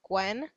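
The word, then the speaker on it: Gwynn: Nashville so it's called Castle Gwen it's spelled GW YNN and it's only open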